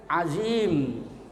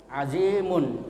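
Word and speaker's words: عظيم: harus disukunkan lebih dahulu Jadi bukan azimun kalau kita berhenti disukunkan Alim tapi kalau disambung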